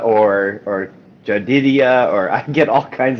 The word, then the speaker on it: Jedidiah: people aren't sure how to, like, if it's Jedidiah or Jedidiah, or I get all kinds of things, but Jedidiah, that's not hard to say once you know how to say it.